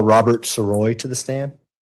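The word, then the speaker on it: Sirois: My name is Robert Soy. My last name is spelled S I R O I S.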